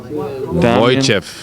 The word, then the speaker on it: Wojciech: The Canadian keeper is pronounced Wojciech. Wojciech. Or Wojciech.